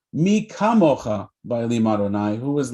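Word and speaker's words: מי כמוכה: the dot in it, so he could actually pronounce the letter Chaf or Kaf correctly. And then he said it the right way, Mi kamocha ba'elim Adonai, who is like you, God, in all the world.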